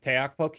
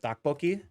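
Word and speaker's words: 떡볶이: in recent history because I kept calling it teokbokki instead of tteokbokki, and I got a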